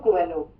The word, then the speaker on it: Coelho: Pronunciation. Paulo Coelho.